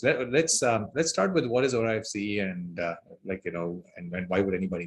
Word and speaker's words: Orafce: I say Orafce.